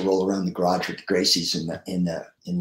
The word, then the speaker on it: Gracie: bangers Helio you got to wrestle here yo Gracie that's how you pronounce it um yeah I was very honored